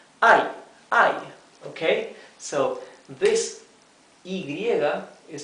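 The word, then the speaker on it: hay: so this is read I remember that the H is always mute okay this is I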